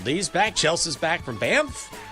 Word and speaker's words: Banff: Chelsea's back from Banff. Glad I can say that correctly. Banff. I had to pronounce that, practice that before the show.